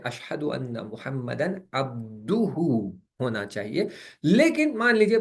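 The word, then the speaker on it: عبده: Change करना पड़ेगा और अब्दुहु पढ़ना पड़ेगा। और पहली जो नमाजें मैंने 40 साल तक पढ़ी हैं जिसमें मैंने अब्दहु पढ़ी है, वो मुझे रिपीट करने की जरूरत नहीं है, अगरचे मेरा वहां पर प्रोनाउंसिएशन गलत रहा है, लेकिन प्रोविजन ये है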